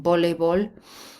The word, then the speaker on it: voleibol: The J in jugar, V as a B in voleibol.